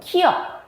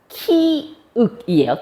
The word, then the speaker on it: 키읔: 자, 기역, 키역, 키윽이에요. 키역 아니고.